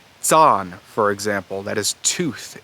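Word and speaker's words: zan: west germanic languages however in old high german it does go to that ts sound and it's spelled with a z zaan for example that is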